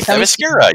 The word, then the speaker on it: Themyscira: See, Themyscira.